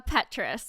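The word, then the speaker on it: Petras: uh Kardashian nope uh Petrus I want to say is how it's pronounced I have no um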